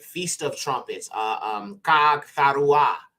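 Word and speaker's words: Haggai: has hidden okay next one is hagay now this is actually pronounced KAG KAG okay now KAG is is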